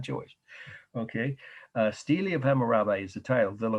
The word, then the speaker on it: stela: Okay, Stela is pronounced Steli, believe it or not, in English. Of, and I'll spell Hammurabi's